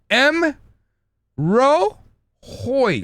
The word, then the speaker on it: M'Rohoj: so look class time M Ro Hoy so it's the the ending that we get confused so Hoy so just pretend that the J is pronounced as a I okay so it's m